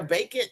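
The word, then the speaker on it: Bakin: instead of a running shoe is there a bacon is bacon bacon b a k i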